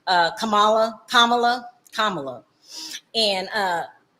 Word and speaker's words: Kamala: first of all does it matter what nationality Kamala is kamla I keep saying the name wrong does it matter black Indian it does